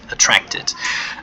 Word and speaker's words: attracted: Okay, attracted with ed at the end, and the ed is pronounced as it, attracted. Attract means to 吸引.